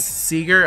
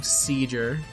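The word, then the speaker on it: Sieger: dragon seizure or says how do you pronounce that actually eager i believe seeger okay because i was i was going to call him seizure no i'm pretty sure it's seeger is this it this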